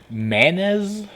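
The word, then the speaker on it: manes: it's a simple looking name yours no they're manas m-a-n-e-s they literally look like zombie blobs in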